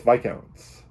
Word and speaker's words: Viscounts: Paladins, and now it's Viscounts. Viscounts is, I don't know. I'm not pronouncing the S, and it's not because of a rare bone disease or anything. You really don't pronounce the S in Viscounts.